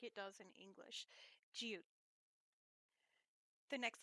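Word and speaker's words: 지읒: Now, if you notice, I'm still not pronouncing that last T very hard. Jiut, because when you make a T sound, the tongue actually goes to the roof of your mouth, and the power does not rely on the air going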